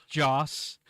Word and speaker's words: Joss: Josh and Pika yeah jocson Joss like John like unfortunately I was gonna say like Joss Whedon but but Joss um and then Pika